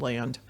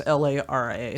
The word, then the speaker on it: Lara: Her name is Liz Lara. I said Land. It was Lara.